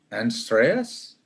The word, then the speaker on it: Andreas: So It's Andreas.